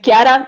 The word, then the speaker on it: Chiara: The correct pronunciation is Chiara, but it's okay.